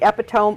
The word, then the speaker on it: epitome: It's epitome, not epitome.